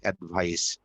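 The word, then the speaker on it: advice: তো যদি আমরা এস ই এর পরিবর্তে সিই বলি, এ ডি ভি আই সিই, তাহলে হয় অ্যাডভাইস।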